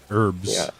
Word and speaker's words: herbs: herbs all right herbs I say I say with a silent h herbs right oh that's right